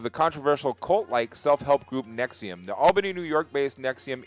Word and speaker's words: NXIVM: Nxivm, pronounced Nxivm, is basically a giant sex cult hidden behind a self-help group.